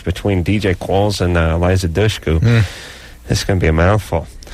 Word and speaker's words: Dushku: It's not Dushku, it's Dushku. Dushku. Dush, like push or I tush. think tush. Yeah. Easy for you. Tush is easy, but dush is not.